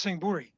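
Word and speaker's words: Sing Buri: we also have a singapora even but it's pronounced sing bhuri but singh bhuri is singapore yes i'm pretty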